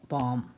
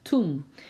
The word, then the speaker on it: tomb: Over her tomb Jacob set up a pillar and to this day that pillar marks Rachel's bomb. tomb 밤이라고 읽었어요. tomb. Over her tomb 그녀의 무덤 위에 제이콥은 셋업 세웠어요.